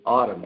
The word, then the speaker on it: Ottum: make one correction the the pronunciation of my last name is is Autumn just like the season oh I'm sorry Wayne